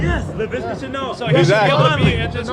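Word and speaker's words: Laviska Shenault: Yes, LaVisca Chenault.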